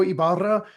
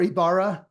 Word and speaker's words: Ybarra: Sana mentioned, I'm Ybarra, or Ybarra. You don't have to roll your R's.